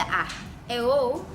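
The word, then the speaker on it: æ: AE called ash is not in use today, pronounced AE as in modern English cat.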